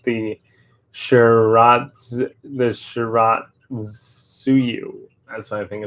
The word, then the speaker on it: Shiratsuyu: Somebody pronounced the ship the I think somebody not pronounce the ship name Shitsaharu, but I think it's pronounced the Shiratsuyu.